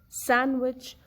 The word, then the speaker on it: sandwich: Letter D is also silent in words like handkerchief, handsome, sandwich, where we have sound of soft A in the beginning, but the sound of letter D is not heard later. So D is silent.